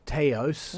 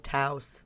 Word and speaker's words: Taos: going to talk to mark gillies about the taos no taos taos yeah i'm english i pronounce it how i want jeff pope is